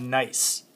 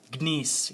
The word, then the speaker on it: gneiss: It's called gneiss, not gneiss. Gneiss, the G is silent.